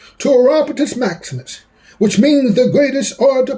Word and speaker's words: Orapotist Maximus: The name is pronounced Orapotist Maximus. My buddies call me.